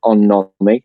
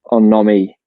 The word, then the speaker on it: On-nomi: idea from Japan called On-nomi. I think that's how you say it. It's on and then N-O-M-I.